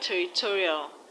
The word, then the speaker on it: territorial: In the word territorial, the stress is on to.